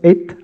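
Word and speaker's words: את: L'accusatif en hébreu, le complément direct, est indiqué par une petite particule qu'on prononce et, Aleph Tav, la première et la dernière lettre de l'alphabet, pour indiquer que ce qui vient appartient au tout.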